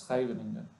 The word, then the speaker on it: Scheveningen: The English, they say Scheveningen, but I think it's Scheveningen, if my pronunciation is correct.